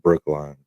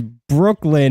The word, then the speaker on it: Brooklyn: I mean, who pronounces it Brookline? Who pronounces it Brooklyn? Everybody except the guy who pronounces it Brookline. Everyone who's ever studied geography? Clearly, if it was Brooklyn, it would be L-I-N, but it's L-Y-N.